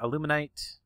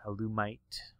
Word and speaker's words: Alumite: Now up here, illuminite. Uh, alumite. Not there's no n in there. alumite.